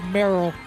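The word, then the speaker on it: Marill: well that is uh merrell merrell yeah like meryl streep yeah in a way because it's spelled m-a-r-i-l-l merrell dude the world of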